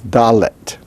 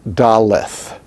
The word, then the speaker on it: dalet: now by the way you notice that there's an h after the t but that doesn't make it daleth daleth no it's dalet dalet the h after the t indicates in this case that we're pronouncing it with an aspiration dalet instead of dalit and cutting it off now without the doggish